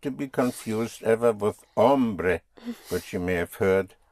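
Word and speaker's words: hombre: Not to be confused ever with ombre which you may have heard ombre h o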